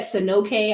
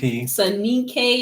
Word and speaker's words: Soninke: Okay, so is that Soninke? I don't know how to pronounce it. Soninke or whatever. Soninke, yeah, you got it right.